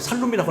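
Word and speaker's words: שלום: 이 히브리 발음은요 물론 이게 본래 원어는 샬롬인데 저희가 학교 때는 이렇게 배웠습니다. 샬롬이라고 하지 말고 그냥 살롬이라고 하라고.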